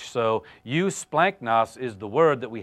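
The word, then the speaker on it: εὔσπλαγχνοι: tender-hearted and compassionate again you splanchnic is how you pronounce that word the G is like an N or an almost an ng in the Greek language so you splanchnic is the word that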